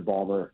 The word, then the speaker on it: Baltimore: Started in Philadelphia and then went to Balber. Okay. The first two years were in Philadelphia and then it moved to Balmer and and that's where they uh that's how they say it down there and they won a championship down there.